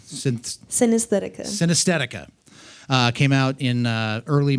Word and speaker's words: Synesthetica: just going to ask you, how do you pronounce that name? Synesthetica.